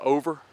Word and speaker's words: Ober: watching I tightened up went to over Gatlinburg I don't know why they spell it with the B okay so friends that